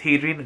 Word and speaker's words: Hadrian: add me on Instagram, it's Hadrian, just like it's spelled here.